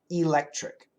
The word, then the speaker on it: electric: short Electric electric so perfect pronunciation of the word is electric e l c t r i c electric electric now in that three syllable word the second syllable is stressed so it's electric electric in that situation e